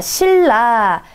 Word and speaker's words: 신라: 자, 신라. 신라는요, 뒤에 리을 때문에 발음의 편의성을 위해 앞에 니은이 리을로 바뀌는 이런 거 유마라고 그러죠.